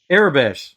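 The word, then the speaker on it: Aurebesh: ar I can't say it uh sorry Arab arabes there we go arabes it was in arabes and it's spelled out when he translated because they have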